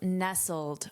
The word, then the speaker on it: nestled: And let's review nestled. First of all, notice this pronunciation of the ed d. This is the past participle of the verb to nestle. But here it's to be nestled. Nestled.